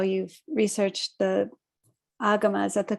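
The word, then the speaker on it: Āgama: fascinated to read about how you've researched the agamas at the correct pronunciation yeah agama um discourses and compared them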